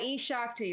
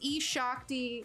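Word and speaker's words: eShakti: Yeah, E-Shakti.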